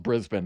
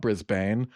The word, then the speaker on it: Brisbane: I don't know if you know this, but one of my exes is from Brisbane, which is why I know it's pronounced Brisbane, not Brisbane.